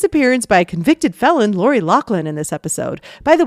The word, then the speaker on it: Loughlin: By the way, I know a lot of people say Lori Loughlin, but on her IMDb page in the trivia section, it says that it is pronounced Loughlin.